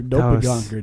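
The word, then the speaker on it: Doppelgänger: Well, actually, you're pronouncing it in English. I'm saying it the way the Germans say it.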